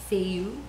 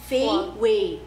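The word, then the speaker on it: Feiyue: Feiyu? Yeah, but it's not Feiyu. What's it? It's Feiwei. Oh.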